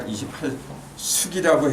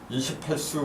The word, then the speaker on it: 28수: 하늘의 별자리가 28숙이라고 해야 돼요. 수라고 해야 돼요.